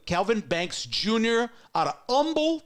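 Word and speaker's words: Humble: Banks Jr out of Umble Texas they don't pronounce the h there in houon I do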